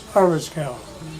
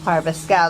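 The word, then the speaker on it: Arveschoug: That mess is pronounced Harvestcow. Harvestcow.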